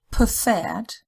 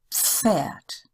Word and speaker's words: Pferd: That's pronounced as one sound, so it's not preferred, it's pferd. So it's an F with a slight P in front of it, pferd, Pfeffer, Pfirsich.